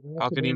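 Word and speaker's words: Al-Quadin: Um, Al Qadim. Is that how you pronounce it? Yeah, Al Yeah. Qadim. Yeah. Al Qadim Muhammad.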